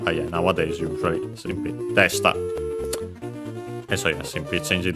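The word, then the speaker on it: でした: then attach the ta, desta. The accent should be still on the de. The e is barely heard, if at all, because it's between unvoiced consonants. And so yeah, de sta, high, low, low.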